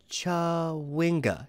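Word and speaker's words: Chwinga: you i'm sorry uh it's more commonly pronounced up here uh ch cha winga chawinga that's what that's what it is i i'm afraid i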